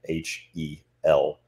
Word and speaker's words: Hel: called her, funny enough, the Scandinavian name for the underworld goddess was Hel, H-E-L, translated to how we would pronounce it today, Hel.